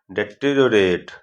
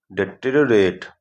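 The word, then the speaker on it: deteriorate: इसका प्रोनाउंसिएशन आप बोलोगे डेटेरियोरेट, क्या बोलोगे? डेटेरियोरेट, है ना भाई।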